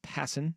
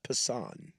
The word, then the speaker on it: Passan: Um I'm going to read just these uh this quick little blurb from uh Jeff Passen in his ESPN article. Uh it's pronounced Passan.